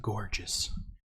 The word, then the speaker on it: Gorgias: Yeah, if you want the kind of the dialogue I was referring to is called the Gorgias, or sometimes people pronounce it gorgeous. Gorgias in English.